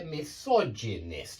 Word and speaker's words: misogynist: um um when you here we've got a fourth syllable word yeah misogynist yeah this is four syllables and notice it's still on the